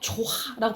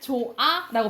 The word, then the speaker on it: 좋아: 탈락해 버린다고 보시면 되겠죠 그래서 우리가 이거 조화라고 발음 안 하잖아 어떻게 말 조 어 잘하는데 좋아라고 발음하고 다하라고 안 하잖아 다아